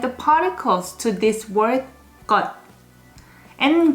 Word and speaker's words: 것: First one is 것. Even though it ends with S as the last consonant of the syllable, unless the next syllable is starting with silent, you're gonna need to pronounce it as D.